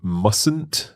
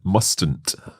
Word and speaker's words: mustn't: when we say mustn't there is a silent letter in there isn't there that's right you say mustn't not mustn't that's right so that